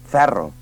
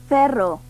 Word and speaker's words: ferro: Escolta aquestes paraules que es pronuncien amb E oberta i no amb E tancada. Ferro, I no, Ferro, preu, i no, preu, model, i no, model, misteri, i no, misteri, obert.